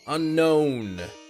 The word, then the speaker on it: Unown: to see you yeah that's how it says unknown emphasis on the known yeah that's how the the guide book says it's pronounced man the English